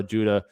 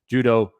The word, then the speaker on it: Judah: opponents by donna guerrero judah judo or judah yeah i said it right the first time castillo floyd knew his